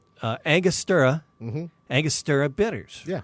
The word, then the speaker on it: Angostura: I typed pronounce Angostura, and it's like Angostura.